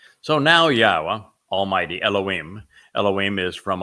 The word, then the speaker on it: Yahowah: W again uh and the W is pronounced as an o sound as it is in Torah as it is in shalom and since the Torah is where we're reading these narratives from yahwah he explained in the